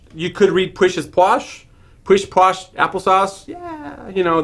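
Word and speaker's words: pwsh: came and said yeah it's spelled PW SH but I'm pronouncing it posh so you may have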